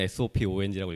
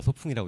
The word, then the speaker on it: SOPOONG: 창립자분은 SOPONG라고 읽으시지만 거의 다 소풍이라고 그냥 읽으시니까 편하게 소풍이라고 읽으시면 됩니다.